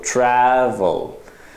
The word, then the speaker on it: travel: 認識ご理解くださいで L の時に下を口の上の部分に当てて音を止めましょう Travel trel オそうすると rvl がしっかり発音できるので正しい発音になりますそしてよくあの発音